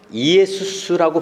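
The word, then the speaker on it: Ἰησοῦς: 우리는 지저스라고 하는데 J자가 사실은 그 유럽이나 그 아랍이나 이스라엘 쪽에서는 거의 묵음처럼 나타나거든요. 그래서 그를 헬라어로는 이에수스라고 발음을 해요.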